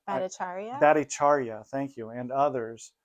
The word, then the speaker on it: Bhattacharya: Badiari, is that how you pronounce his name? Bhattacharya.